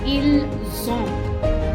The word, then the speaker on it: ils ont: So it becomes nous avons, vous avez, ils ont, elles ont. Whereas the être, ils sont and elles sont are the S sound,